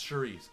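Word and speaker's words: Saoirse: 45 years and S how do you say shice it's Sharice Sharice you know what it's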